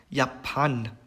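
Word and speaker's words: Japan: 요트 발음 같은 경우에는 이응 발음이 납니다. 그래서 야판 이거는 이제 일본이라는 뜻이고요.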